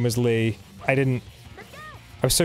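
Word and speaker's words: Leigh: anyone who doesn't know my first name is lee um l-e-i-g-h like you know like a like a lady would spell it yeah but you don't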